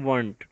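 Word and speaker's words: Wundt: वो था William वंट। डी जो है इसके अंदर साइलेंट है, हम डी को नहीं पढ़ेंगे, वंट पढ़ेंगे, विलियम वंट।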